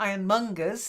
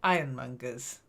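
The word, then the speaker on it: ironmongers: uh the first one just the stress not iron mongers just iron mongers iron mongers iron mongers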